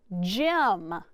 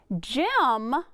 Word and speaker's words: gem: Gem, what sound do you hear on the G sound? J, j, gem. And whenever we check it, what follows the G on this card? A Y, that's right. So that tells me it says J, like a soft G sound.